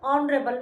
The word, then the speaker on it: ऑनरेबल: एच तो कोसोनेंट है तो उससे पहले ए आना चाहिए लेकिन ऑनरेबल में एच साइलेंट है। ओ की साउंड आती है।